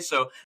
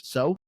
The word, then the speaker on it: Soh: spirit guardian with her named So. I believe that's how you pronounce it, SOH.